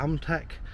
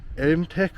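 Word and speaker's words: AMETEK: I always pick these places where I don't know how to say it, but it's spelt A-M-E-T-E-K, so it's Amtech or Amatech, NU Amatech.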